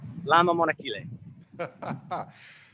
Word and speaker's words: Lama Monachile: Is that how you pronounce it properly? Monachile. Lama Monachile.